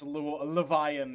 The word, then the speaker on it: Luwin: yeah, the show does disagree, and like George Martin has made it clear that you can pronounce this Levian if you want to.